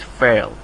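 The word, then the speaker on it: فعل: fail so that's actually it's pronounced like this fail okay so Isam fail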